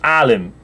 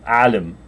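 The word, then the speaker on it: عالم: the end of sh that is not easy for English speakers to pronounce it comes across sounding rather harsh um and um it's there at the beginning of Alim but it means a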